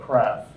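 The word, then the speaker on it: CWRAF: for dealing with that called crap it's a silent W I couldn't figure out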